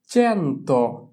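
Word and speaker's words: cento: চি এর পরে এ থাকলে তার উচ্চারণ হয় চে। তাহলে হচ্ছে চেন্তো।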